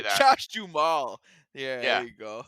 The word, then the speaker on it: Duhamel: Josh Duhamel. I'm gonna say that. Josh Duhamel.